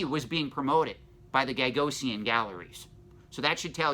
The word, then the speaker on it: Gagosian: Another gallery that we need to talk about is Gagosian, and I think I'm pronouncing that wrong. It's Gagosian.